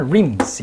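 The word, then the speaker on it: realms: 다른 rims, 영역으로. L이 묵음이죠.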